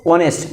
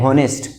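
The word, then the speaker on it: honest: क्या बोलते हैं हम इसको, ऑनेस्ट, नॉट ए हॉनेस्ट। हॉनेस्ट नहीं, ऑनेस्ट।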